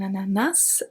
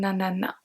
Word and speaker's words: ananas: think, you know that an ananas can have two different pronunciations. We can either say un ananas or un nanana. Both are correct.